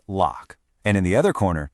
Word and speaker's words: LOQ: And just so we're all on the same page, that's pronounced LOQ.